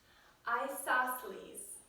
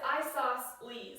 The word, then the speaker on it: isosceles: a new member glister next to say isosceles comes in furnace and lettuces I stop to these I also say isosceles isosceles but the book says I sauce please like three syllables and I think isosceles come on pinky that's how you say it come close I